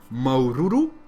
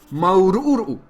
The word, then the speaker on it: maururu: Maururu, qui veut dire merci, mais aussi gratitude, satisfaction, s'écrit ainsi. Maururu. Comptez bien les U, il y en a 4 en tout. Remarquez qu'il n'y a pas d'occlusive glottale, mais il y a une longueur sur le A.